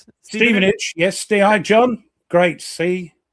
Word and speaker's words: Stevenage: Stevenage. Yes. Stei, John. Great. See, they like the time. Ste, not Stephenage. No, Steven. It's Stephen.